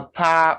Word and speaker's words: power: suicide power tower shower so you say your our sound so it's not a power or tower or shot no it's power tower and shower guidance then you have